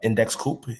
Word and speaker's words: Index Coop: Index Co-op. They spell it like Index Coop, but it's Index Co-op for Index Cooperative.